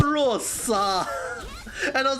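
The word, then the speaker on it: Luocha: coming out soon, the Locha. The thing is, right, his name is not pronounced as Locha, it's called Luosa. His name is called Luosa.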